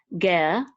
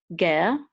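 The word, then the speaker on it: גר: We're going to say ger, ger. Resh is like a guttural R.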